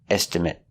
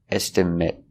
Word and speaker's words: estimate: the price on it estimate with a short sound estimate it it I need